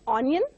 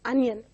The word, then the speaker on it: onion: It is not onion, but it is onion.